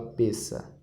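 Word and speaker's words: פסח: é chamada em hebraico pessa se escreve pess mas se fala pessa essa é a Páscoa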